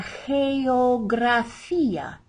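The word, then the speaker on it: geografía: geography la jeo gracia notice we have a soft g because it's followed by an e here at the beginning and then gra because it's followed by an r a consonant so we have both g's in one sentence or one word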